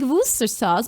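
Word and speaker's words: Worcestershire: It's more like worooster sauce. said, "Why is there shire in it if you don't say the shire?"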